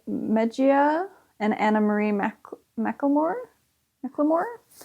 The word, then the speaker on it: McLemore: and Anna Marie McLemore McLemore like Thrift Shop Macklemore it's not spelled like that um and this is